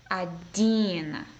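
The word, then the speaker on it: один: I'll spell it out ah da e na Adin Adin and right there you're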